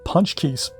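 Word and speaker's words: pączki: They're a Polish recipe, and here in Florida we call them punch keys. They're spelled without the N, like punch key, and with a little special character underneath the C.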